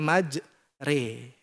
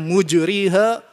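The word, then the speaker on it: مجراها: itu memang akan menemukan ada Alif majro tapi kita baca maj re itu qiraatul hafas membaca qirat hafas hanya ini saja yang dibaca majre ya majre Wa muraha ada riwayat lain yang membacanya mujriha wa mursiha mujriha yang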